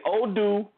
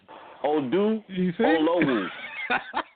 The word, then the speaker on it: Oduolowu: This is easy. It's Odu. Listen, look. Just look at the word and say Oduolowu. Oduolowu. Yeah, that's it. Odu. Just read it out. Oduolowu.